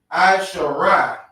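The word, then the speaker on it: עשרה: How you pronounce 10 in the Hebrew is Aishara.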